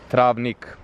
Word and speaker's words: Travnik: this town that I can't pronounce and it's pronounced I'll Neha travnik travnik that's not easily anyway this was built